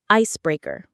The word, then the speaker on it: icebreaker: The word is icebreaker. Let's start with how it sounds. It has 3 parts, 3 syllables. Listen closely. Ice, break, The stress, the strongest part of the word, is on the first syllable.